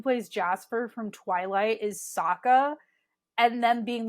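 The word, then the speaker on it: Sokka: says my name is Saka rhymes with AA and waka waka and that's like my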